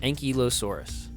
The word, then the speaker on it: Ankylosaurus: We just get a close look at Ankylosaurus, which were a genus of armored dinosaur.